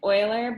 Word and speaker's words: Euler: we're going to do his name is euler but it's actually spelled like this yeah i think he